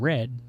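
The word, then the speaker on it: Re(a)d: Called Red, but it's spelled R-E A parentheses A-D.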